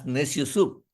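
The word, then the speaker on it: Neciosup: He says, pronounce very fast, nasty old soup. Nasty old soup. That's necio soup.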